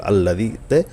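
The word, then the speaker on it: الذي: আল্লাযী শব্দটা কোরআন শরীফ অনেক জায়গায় থাকবে, শুধু আল্লাযীতে হামজাতে জবর ধরতে হবে, আলিফে জবর ধরে পড়তে হবে। আল্লাযী, জাল ইয়াজের জি, জি বলা যাবে না। জি বললে কিন্তু জালের সহি উচ্চারণ হবে না।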